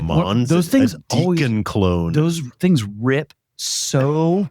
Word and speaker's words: Dekon: It's a combo of two guys' names. It's Deakon, right? No, I don't think there's an A. Okay. It's Dekon. And I always just say Dekon.